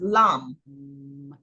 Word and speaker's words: Lam: It's Lam. Yeah, and you hold out that M.